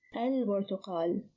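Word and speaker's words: البرتقال: When we add L, it becomes al-burtuqal. Al-burtuqal. So here the lam is pronounced, the ba is unchanged, so the ba is one of the moon letters.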